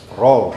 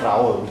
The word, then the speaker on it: Raoult: Pronunciation. Roll gitu ya. Kalau kita ya sudah roll gitu lah ya. Tapi jangan bacanya Raoult gitu.